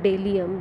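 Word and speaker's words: bdellium: Okay, which is known as it have a synonym, Indian Delium, B is silent here, scented delium and the gum gugur.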